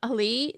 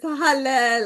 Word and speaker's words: Halle: Ali, did I say it right? I'm trying to remember. Yeah, it's halle, like hallelujah, halle.